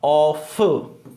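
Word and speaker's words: off: देखो O double F जो है उसका प्रोनाउंसिएशन होगा ऑफ। ओ डबल एफ का प्रोनाउंसिएशन होता है ऑफ, और ओ एफ का प्रोनाउंसिएशन होता है ऑव। ठीक है। देखो ओ एफ जो है उसका प्रोनाउंसिएशन क्या होगा, ओ वे, इसमें वे है, जबकि ओ डबल एफ को क्या बोलेंगे, ऑफ।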